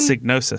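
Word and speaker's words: Psygnosis: market um so wait how do you pronounce this company's name again signosis sign with a p yes with a P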